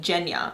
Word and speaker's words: Genya: back of the book there's a pronunciation guide and it says guinea's name is actually jenya like it's a jew